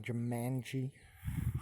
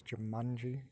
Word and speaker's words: Jumanji: go so you know Here I am watching Jumanji I thought it was Jumanji it's pronounced Jumanji this is the current website I'm